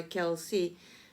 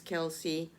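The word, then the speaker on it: Kelce: made headlines this fall whether Kel should be pronounced Kel or kelc has been a topic of discussion even in his own family both Travis and his brother Jason Kelsey pronounced their last name as Kelsey h on an episode of their new hates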